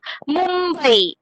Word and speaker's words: Mumbai: So pancham sthan is ma, and you have to give the sound of ma. Mumbai. Mumbai. I'm giving ma sound while pronouncing this word.